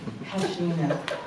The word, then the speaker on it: Pashina: Pashina.